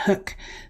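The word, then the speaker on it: Huk: Hook, you pronounce that Hook, $33.55.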